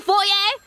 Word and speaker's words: foyer: hotel or a theater how do you go about pronouncing it in British English it is usually said as for fo in American English